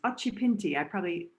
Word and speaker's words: Occhipinti: Well, and this is a comment from Chris Occhipinti. I'm pronouncing it Italian here.